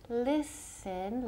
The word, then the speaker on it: listen: Con el verbo to listen, la T es muda.